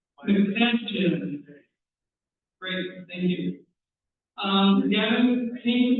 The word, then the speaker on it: McFadden: Am I pronouncing it correctly? McFadden.